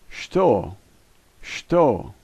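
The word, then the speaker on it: стол: and that's J and this word is pronounced stole stole there are no new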